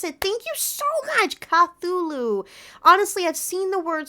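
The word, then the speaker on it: Cthulhu: place I'm coming from um K oh okay cthulu that's how you pronounce it thank you so much cthulu honestly I've seen the word so many times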